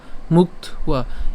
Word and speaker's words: মুক্ত্বা: এরপরে মুক্ত্বা, এখানে কেন মুক্ত্বা? কারণ এখানে কি আছে? অন্তস্তব আছে, তাহলে আমরা যেটা উচ্চারণ করব কয়ত পর্যন্ত উচ্চারণ করছি মুক্ত, এই যে মুক্ত। এরপরে অন্তস্তবের উচ্চারণটা সাথে আকার উচ্চারণ করছি ওয়া, তাহলে মুক্ত ওয়া, মুক্ত ওয়া।